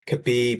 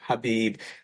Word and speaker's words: Khabib: pronounce potential names properly such as kabib often being mispronounced instead of khabib Kamar Usman with Usman